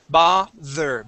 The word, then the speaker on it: bother: hostage good yes bother this is going to have a voiced th V bother bother try that bother good good okay